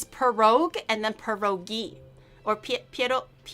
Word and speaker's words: pierog: You have to roll the R.